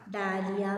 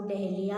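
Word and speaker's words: dahlia: Okay, next one, डालिया भी बोलते हैं इसको, डहलिया भी बोलते हैं ना।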